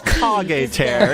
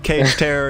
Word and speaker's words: Kage Terror: Sir, it's Kage Terror. It's a Naruto reference. You're gonna have all the weebs on your back if you call him Cage Terror again.